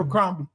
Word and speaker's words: Abercrombie: And she's like, it's Albert, Nathan, and Finch. They gonna They look. They gonna know. Abercrombie and Finch. Did I say it right? Yeah. Okay, Not cool. Abercrombie.